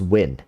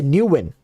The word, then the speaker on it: Nguyen: Nguyen pronunciation is win. Really? There's no new? I remember people used to say new win. It's just win.